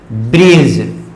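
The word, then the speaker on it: bridge: talent होगा ठीक है डिकेड बाद अगर जी हो तो लेटर हमेशा टैलेंट होगा जैसे पिंपल में बात करते हैं जैसे मैंने क्या लिखा है यह ब्रिज क्या लिख रही ब्रिज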